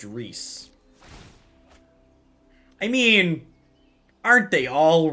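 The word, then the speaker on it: Rhys: a real name and it's pronounced reese i mean aren't they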